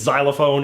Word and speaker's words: xylophone: since xylophone is one of those words where X makes a Z sound instead of its standard sound in words like fox and box and locks.